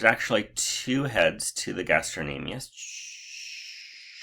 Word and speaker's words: gastrocnemius: is actually two muscles it is the gastrocnemius cn is silent i have a silent c in my middle name